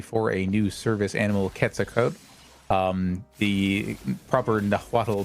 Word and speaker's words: Quetzalcoatl: Anade, raise money for a new service animal, Quetzalcoatl. The proper Nahuatl pronunciation for the deity you may know as Quetzalcoatl, or I did.